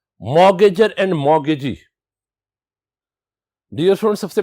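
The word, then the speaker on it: mortgage: होगा जिसे मॉर्गेज और मॉर्गेज का रिलेशनशिप कहा जाता है डियर स्टूडेंट्स यहां यह चीज याद रखिएगा इसमें टी साइलेंट है इसे मॉर्गेज पढ़ा जाएगा मट गज नहीं पढ़ा जाएगा इसे द एक्चुअल प्रोनंसिएशन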